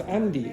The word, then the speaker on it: Andi: version of again yeah it's Andi it's not an okay it's Andi say Andi Andi yeah now you notice what's the difference between my pronunciation and touch Andy now where where's the problem for you d d the D sound okay so the D sound in Portuguese and English is not the same so if you get